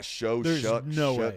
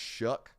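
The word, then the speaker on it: Shough: Shu Tyler Shu ah show sorry I don't even care if Tyler himself told me that's how you enunciate that that's spell s h o u g h that's pronounced Shu no what shuck in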